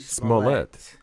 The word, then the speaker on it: Smollett: Jussie Smollett. Okay. Accent on the second.